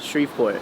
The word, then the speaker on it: Shreveport: Yes, Shreveport, Yeah.